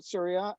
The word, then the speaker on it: Surya: So welcome to the show, Surya. And am I pronouncing your name correctly?